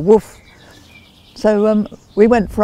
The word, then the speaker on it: WWOOF: it was called and i realized it was pronounceable woof so um we went